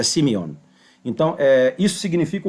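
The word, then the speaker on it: σημεῖον: no livro de Apocalipse, que é Simeion. Simion, né? Então, é traduzido, é geralmente pronunciada como semeion, né, pela, pelas pessoas que não conhecem a fonética grega, mas é semion.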